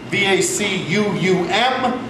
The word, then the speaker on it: vacuum: expand forming a vacuum v a c uu M that will pull the egg into the bottle as the British saying and as it actually should be pronounced it's vacuum vac vacuum the vacuum and then we're going